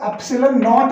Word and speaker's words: एप्सिलॉन नॉट: ये जो लिखा है इसकी प्रोनाउंसिएशन है नॉट, तो इसको एप्सिलॉन नॉट बोलते हैं।